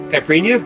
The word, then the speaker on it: caipirinha: Caipirinha, is that right?